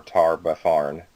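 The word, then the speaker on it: Tar-Baphon: the whispering Tyrant or tar baar that's how it's pronounced do we know him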